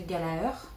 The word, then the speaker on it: Gallagher: que sinon on s'écrit Gallagher et en gros le triste dit qu'on prononce pas le deuxième g du coup ce serait galère voilà donc on va